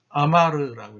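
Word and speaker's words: אמר: 아마르라고 읽습니다. 아마르.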